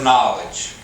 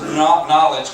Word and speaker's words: knowledge: got spell check but the K is silent anyway Bob's knowledge concerning all things natural